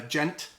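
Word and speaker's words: djent: kind of a genre so it's spelled d-j-e-n-t and it's uh it's a like onomatopoeic word for like how um like when you're palm muting on a guitar like that kind of sound um so in terms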